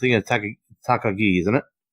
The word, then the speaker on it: Takagi: How do you pronounce it? Takagi, isn't it? Takagi.